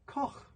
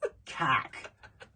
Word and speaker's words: Koch: It's German. You just add the CK at the end. No, it's not. It's a soft. No. It's a soft. It's Koch. That's German. I don't know. They don't pronounce it Kak. They don't pronounce it that way.